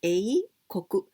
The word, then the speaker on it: 英国: So A, and we pronounce A, koku.